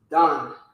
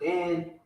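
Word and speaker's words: דן: You'll pronounce this Don, not Dan, but it's the same writer.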